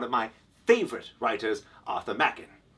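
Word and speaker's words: Machen: my favorite writers Arthur Mackin I often tell people it smacking like crackin not mocking like Dokken and now you can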